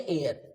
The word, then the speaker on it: heir: Okay एयर, friends ध्यान रखिएगा, HEIR इसका प्रोनाउंसिएशन भी क्या होता है, एयर।